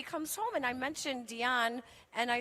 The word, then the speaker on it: Dionne: last because her name every she's named after Dion Warwick okay and so and because it's pronounced Dion this cross talk is so have we been